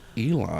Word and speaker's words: Elon: It's Elon.